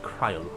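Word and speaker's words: Krile: but k i cryle I forgot her name is pronounced cryle listen leaning on others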